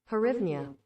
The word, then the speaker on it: Hryvnia: It's the pronunciation. Let's listen. Oh, wait. My sound's off. Hang on. Hryvnia.